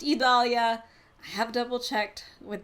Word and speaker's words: Idalia: on this into the overnight and it is pronounced Italia I have double checked with the National Hurricane